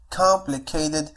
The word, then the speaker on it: complicated: معنى كلمة complicated هي معقد. نفس الشيء أيضا T سوف تنطق على الشكل D لأنها flap T وتأتي بين two vowels هم E و A.